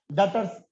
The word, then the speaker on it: debtor: डेटर्स, डेटर्स DEBTOR, डेटर, ऐसा लगा दिया डेटर्स। डेटर्स नहीं बोलते सर, बी साइलेंट है यहाँ पे।